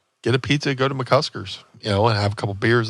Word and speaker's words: McCusker's: People like to put an L in there. Mm. People like to call it McCluskey's, McCluskers.